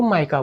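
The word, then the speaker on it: mica: एम आई सी ए इसको माइका बोलते हैं ना उच्चारण के लिए मीका भी याद कर सकते हैं। याद करने के लिए मीका है ना?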